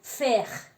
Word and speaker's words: faire: Por ejemplo, la A y la I junta se pronuncia como la E. Por ejemplo, faire. que quiere decir hacer. Entonces se dice e. Y la e al final no se pronuncia, entonces sería faire.